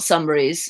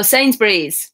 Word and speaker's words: Sainsbury's: Not Sunbury's. Is that the right spelling? Oh, Sainsbury's.